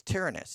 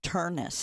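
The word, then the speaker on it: Ternus: But I think it's Tarenus, t e r n u s. He will become the it's just Turnus.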